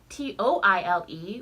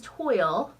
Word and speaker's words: toile: of other countries internationally they'll call it a toile, T-O-I-L-E, which is spelled very similarly, and no one says toile that I've heard. They all say toile.